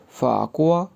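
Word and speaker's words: 法国: फाकुआ।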